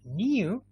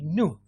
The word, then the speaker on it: new: british people would say new american people would say no british people would say student american people would say student good all right we